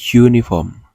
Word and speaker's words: uniform: Tapi untuk penulisan yang benar itu menggunakan E dikarenakan kata awal dari uniform itu dibaca U. Bukan U, bukan uniform, tapi uniform.